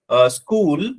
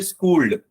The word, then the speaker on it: school: For example, school, you say schooled.